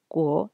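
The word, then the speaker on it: 国: Ce caractère-là va se prononcer guo.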